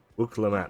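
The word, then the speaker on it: Wuk Lamat: Wuklamat. Claim to be of the royal That's how you family, pronounce it.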